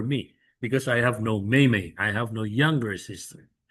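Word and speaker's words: 妹妹: Now, for younger sister, it's 妹妹. A fourth tone may, and the second syllable may is into neutral. It becomes, neutral.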